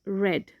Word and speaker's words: read: red but pronoun are spelled read but pronounced red like the color red so you might be